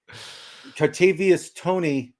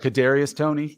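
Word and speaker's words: Kadarius Toney: you're a Giants fan but here we go kartavius Tony did I say his name in that case you're talking about Kadarius Tony yeah yeah he he's the guy that was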